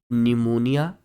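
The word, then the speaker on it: pneumonia: D collection during अन निमोनिया यहां पर silent होता है निमोनिया इस ए डिजीज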